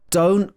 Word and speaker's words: don't: Don't cry over spilt milk. So here, don't, the last T in this is not pronounced.